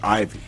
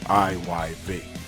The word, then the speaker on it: IYV: I'm talking about IYV. A lot of times, people mistype or mispronounce the name as Ivy, IVY. It's actually IYV.